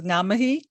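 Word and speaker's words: ngā mihi: say um hi uh thank you is namahee and uh goodbye is uh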